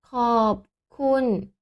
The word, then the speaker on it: ขอบ: ขอไข่ Là, c'est ขอไข่ Ah, et ici, prononciation, c'est ขอบ mais le R, on ne prononce pas.